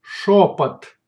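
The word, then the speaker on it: шёпот: Шепот, шепот, шепот.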